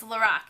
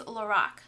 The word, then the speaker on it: LORAC: That's how you say it, because I looked it up on YouTube, and it's LORAC, and Carol Shaw said it that way.